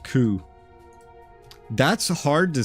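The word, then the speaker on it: Kou: It's pronounced Ku.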